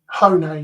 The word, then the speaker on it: Hone: How do you pronounce it? Hone. Hone, yeah.